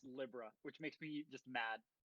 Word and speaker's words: Libra: In the Japanese they call it Libra, but well, it's written Libra, but it's pronounced Libra, which makes me just mad.